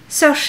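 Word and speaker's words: Saoirse: qu'avec kate winslet et search à rhône ain oui c'est comme ça que ça se prononce vous en prie trouver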